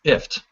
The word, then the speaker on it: IFTTT: this factoid and again it's pronounced ift like lift without the L and at its most